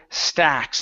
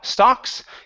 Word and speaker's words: stacks: here is the word Stacks instead of St stocks give me an a sound so um uh with